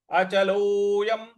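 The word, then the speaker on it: अचलोऽयम्: स्थानुर अचलोयम, 'लो'; ' l' पर 'o' की मात्रा को लंबा खींचना चाहिए।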